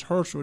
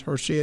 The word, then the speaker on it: Herschel: different now he said no no no it's herschel they said no your name is hershey they spell it herself